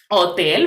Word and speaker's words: hotel: Hotel, very good. Without this H.